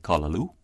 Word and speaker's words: callaloo: Without accent marks, we have words like callaloo. And by the way, it's spelled with C-A, first of all, callaloo. And we say call, C-A-L-L, right? Okay, so there's your A becoming similar to the O there.